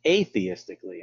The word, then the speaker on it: atheistically: can look at it atheistically and i pronounce it that way because you know what the prefix a or n means so a theist means